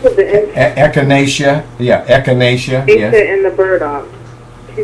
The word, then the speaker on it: echinacea: think it was uh and how do you pronounce the echinacea yeah echinacea and the burdock she said i could take